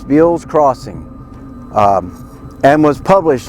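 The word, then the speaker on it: Beale's Crossing: That's spelled B E A L- S, Bill's Crossing.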